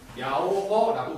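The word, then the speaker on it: 遼河: 이걸 중국식 발음으로 읽게 되면은 야오허라고 부릅니다.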